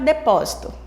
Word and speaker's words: depósito: essas sílabas fortes depósito vamos observar o depósito de pó posito depósito o pó fica sendo a sílaba mais forte devido ao acento agudo esse assento viradinho assim